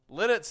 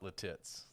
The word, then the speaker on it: Lititz: Lidditz is how you pronounce it. Lidditz. Okay, perfect. Lidditz. Not Lititz.